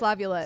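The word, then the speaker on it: LaViolette: Lavulette. It's tough to I say. hate saying that name. Jace Lavulette.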